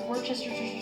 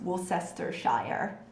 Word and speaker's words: Worcestershire: We don't say shire, we say sheer.